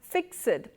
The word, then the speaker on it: fixed: Now you will have noticed that I used the word F-I-X-E-D and pronounced it as fixed. Now this is not normally correct in conversation, but poets have what is called poetic license, and the poet here extends the use of that one syllable to two in order to fit the 10 syllables of Iambic Pentameter in this particular line.